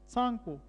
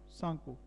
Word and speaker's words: Tsangpo: और जब ये ओरिजिनेट होती है, और जब ये तिब्बत में फ्लो करती है, वहाँ इसको कहते हैं सांगपो, टी जो साइलेंट है, TSANGPO, सांगपो।